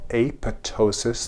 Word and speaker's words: apoptosis: in a process called apoptosis. The P is silent.